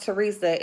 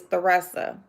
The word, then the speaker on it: Teresa: Y'all, her name is spelled Teresa, but it's not pronounced Teresa. It's Theresa. Good morning, Silky Black.